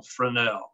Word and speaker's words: Fresnel: that of augustine jean fresnel this is f-r-e-s-n-e-l pronounced f-r-e-n-e-l for now he thought